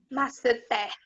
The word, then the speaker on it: masseter: Masseter. Masseter. Nome de um músculo da face. Se é masseter, ela, em classificação de sílaba tônica, ela se classifica entre qual, Sara?